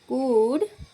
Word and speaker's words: could: आई कुड run fast. मैं तेज दौड़ सकता था। अब यहाँ पे एल साइलेंट है, आप इसको कुड बोलेंगे, कुल्ड नहीं बोलेंगे, कुड बोलेंगे।